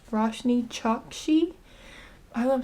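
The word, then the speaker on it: Roshani Chokshi: I looked up how to say her name and I think she said that the A is silent. So, it's Rashny Choxshi.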